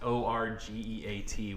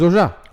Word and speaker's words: orgeat: Orgeat, O-R-G-E-A-T, which 99% of us don't know how to pronounce, but if you want the true pronunciation... It's Orgeat. It's Orgeat.